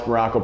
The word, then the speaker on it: Maroko: I am Coach Maroko, pronounced just like the country, and you know the deal, spelled absolutely. When I say absolutely, I mean like absolutely nothing like it.